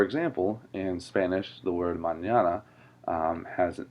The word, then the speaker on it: mañana: It's mañana, not manana. It doesn't sound like banana, even though it's spelled almost the same.